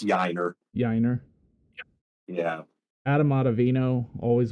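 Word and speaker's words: Yainer: Yiner Diaz's name because that's what I like about and they will try to it's Yiner.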